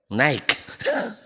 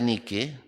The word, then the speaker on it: Nike: tuh dikasih merek Nike naik Nah kalau Nike maur harganya tapi kalau naik mahal beda bacanya aja kalau dibaca nikih masih Orang Indonesia itu agak